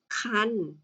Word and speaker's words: ครรภ์: นะ คะ ก็ คือ ให้ เรา เนี่ย อ่าน ออก เสียง เป็น อัน นะ คะ ก็ คือ ไม่ อ่าน ออก เสียง ตัว การันต์ นั่น เอง นะ จ๊ะ อ้า ต่อ